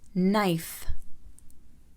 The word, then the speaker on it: knife: إذا جاء حرف الكي يليه حرف الإن فإن حرف الكي لا يلفظ. حرف الكي لا يلفظ. Knife, knife.